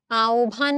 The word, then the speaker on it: আহ্বান: আহ্বান শব্দের প্রমিত উচ্চারণ আওভান শব্দটার প্রমিত উচ্চারণ হচ্ছে এটা। ঘ।